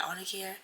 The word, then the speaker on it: Arnicare: Yeah, Arnicare.